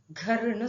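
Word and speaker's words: घर: இது கர்ன்னு சொல்லக்கூடாது, கர்ன்னு சொல்லணும். ஸோ இந்த இங்கிலீஷ்ல காவே 4 விதமா ப்ரொனவுன்ஸ் பண்ணுவாங்க.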